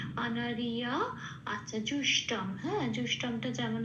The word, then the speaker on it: অনার্য: এবার জটা উচ্চারণটা হবে ইয়া বলে, অনারিয়া।